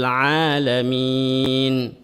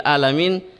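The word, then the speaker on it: عالمين: Kalau alamin huruf ain, ya biasa memang tahu hurufnya ain, tapi pelafalannya itu dia bukan ain tapi a. Alhamdulillahi Rabbil Alamin. Kalau alamin seluruh alam. Kalau alamin dari kata alama artinya sakit. Ya, masa Tuhan yang sakit? Ya, Rabbil Alamin dengan Rabbil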